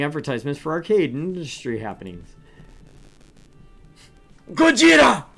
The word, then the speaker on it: Gojira: for arcade industry happenings Gojira for those of you that you don't know or who are not aware Gogeta is the Japanese pronunciation for Godzilla also a band also